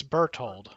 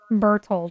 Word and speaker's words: Berthold: So it's Germanic name, Old German form. Does it tell you how to pronounce it on there? It's Berthold. Berthold, okay.